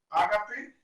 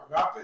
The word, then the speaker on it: ágape: Esa encíclica del Papa Benedicto, donde nos habla del amor filial, del amor ágape o agape, depende de cómo lo pronunciemos, y del amor eros, ¿verdad?